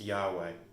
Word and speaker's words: Yahweh: which is yhwh and we honestly do not know the vowels that go in with those consonants in hebrew but it's often pronounced yahweh i argue that there